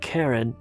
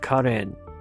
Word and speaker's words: Karen: And by the way, that's the way you pronounce it. It's not Karen, but Karen.